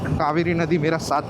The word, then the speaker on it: Cauvery: वैसे इसको हिंदी में कावेरी कहते हैं, बट इंग्लिश में पता नहीं CAUVERY क्यों लिखते हैं, कावेरी हो जाता है वो। शायद से इनका प्रोनाउंसिएशन ही ऐसा साउथ इंडियन में होगा, कावेरी, क्योंकि हिंदी में तो कावेरी होता है KAVERI, बट यहाँ पे मैंने बहुत सारे बोर्ड्स में देखा उनका ऐसा नाम लिखा था CAUVERY, कावेरी।